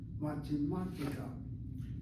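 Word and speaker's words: מתמטיקה: In the case of mathematics, the accent is on the 3rd syllable. If you look at mathematica, it has 1, 2, 3, 4, 5 syllables. Ma, te, ma, ti, ka. And the accent is not the last syllable, but the 3rd from the last syllable.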